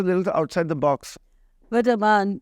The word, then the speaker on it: Amaan: But Amaan, your one regret has been that your name is always mispronounced. नहीं, मेरा तो अमन हो जाता है, अरमान हो जाता है.